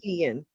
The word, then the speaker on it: Keyishian: Keyishian. That's right. Keyishian. Four Keyishian. syllables. 4 syllables.